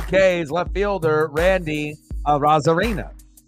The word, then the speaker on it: Arozarena: Ks, left fielder Randy Arozarena. But as Randy says it, he says it Randy Arozarena. So obviously you'll hear the announcers say Arozarena, but I think the correct pronunciation is Arozarena.